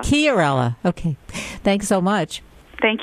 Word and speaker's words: Chiarella: And it's Chiarella. Did I pronounce that right? It's Chiarella. Chiarella.